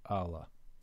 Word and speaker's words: alah: added an L um either way it's pronounced the same it's the same word but I just recently